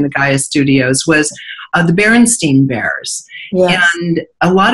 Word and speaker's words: Berenstain: And to me, that's very odd, because when I was reading books, I would be aware, like, is it Steen or Stein?